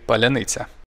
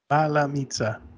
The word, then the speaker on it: паляниця: Скажи паляниця. Паляниця. Palamita. Palanitsa.